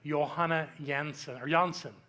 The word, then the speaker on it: Johanna Jansen: Her name is Reverend Johanna Jansen. Her name is spelled with J's, but she's from the Netherlands, so it comes out with Y sounds.